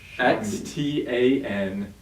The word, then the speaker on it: Xtandi: But no, so Medivation has a cancer drug called, I don't even know how to pronounce this thing. It's called Xtandi. It's Xtandi.